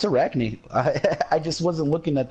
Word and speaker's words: Arachne: it incorrectly oh no you're right now it's Arachne I just wasn't looking at the name yeah